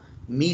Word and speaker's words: Mie: There's another kind of scattering which is known as the Mie scattering or Mie scattering. It's pronounced both ways, MIE.